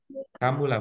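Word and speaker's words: كَمُلَ: kata kamulaa kamula Kamila Kamulah Bu karena mim dengan domah itu bacanya kamulah kamulah kalau mau ditambah Boleh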